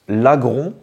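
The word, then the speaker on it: Laggron: l'appelais lagron des fois lagronne je savais pas vraiment du coup on doit dire lagron c'est un mélange entre le lagon et gros voilà donc un lagon céit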